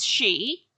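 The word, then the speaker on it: sídhe: h i d e this bit is pronounced she and roughly translates to fairy this bit is pronounced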